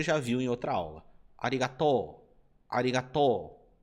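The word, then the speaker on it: ありがとう: Lembra que nessa palavra eu expliquei para você que quando você tem uma sílaba terminada com a vogal O, como essa daqui, seguido da vogal U, você vai prolongar o som do O. Então, essa parte aqui você falará to, e não to, ok?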